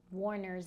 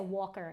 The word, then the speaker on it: Warner: So I um I said Walker instead of Warner and I was like, "Yeah, I can't have that."